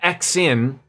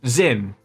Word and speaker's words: Zin: It's not Xin. That's pronounced Zin, right?